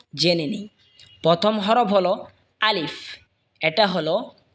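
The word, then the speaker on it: ألف: চলুন আরবি হরফগুলো এবং তার উচ্চারণগুলো জেনে নিই। প্রথম হরফ হলো আলিফ। এটা হলো আলিফ, কলমের মতন দেখা যায়।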